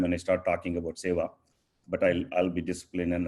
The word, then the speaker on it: seva: Community seva, it's pronounced as seva. I know many of them as is seva or seva. Seva is a Sanskrit word, means selfless service.